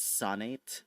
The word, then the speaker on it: Son8: Okay, so this was my first official D&D character, and their name was Sonate, like a sonnet, but it's spelled like SON8.